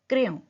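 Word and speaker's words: crayon: Pencil को बोलते हैं क्रेयों. क्र ए वाई ए और ओ एन का साउंड ओ. क्र ए ओ. क्रेयों. क्रेयों. अ गार्डन.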